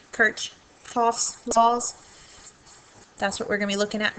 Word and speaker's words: Kirchhoff: Kirk Cha's laws and if you Google how to pronounce that um you're going to come up with a couple of different ways to pronounce it so anyway we'll do the best we can Kirch coughs laws that's what we're